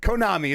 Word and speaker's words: Konami: Konami is how I actually say it.